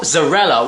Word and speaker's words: Zarella: to you by Bill Zarella, which is an amazing surname. It just said to me, you pronounce it like mozzarella, so hi Bill Zarella, lush name my friend, and you're from Tennessee, I believe.